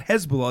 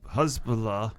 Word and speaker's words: Husalah: this is adjacent to I think you're saying his name wrong it's husa not Hezbollah it's husb hus Husalah yes all right huz so